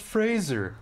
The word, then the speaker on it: Fraser: It's pronounced Fraser.